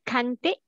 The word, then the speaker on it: cantik: Is it cantik? Is cantik. Not can. How to pronounce ka. C? Not can. How to pronounce C? Who want to help your friend? How to pronounce C? Chante.